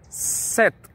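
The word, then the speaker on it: sept: suena como una s el 7 sep la p no suena el 8 with deben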